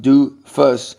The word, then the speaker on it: doofus: of a or a doofus pronounced du fuss as anybody whose advice